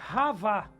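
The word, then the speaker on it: חוה: Eva. Eva é Havá. Havá. Você vê que interessante?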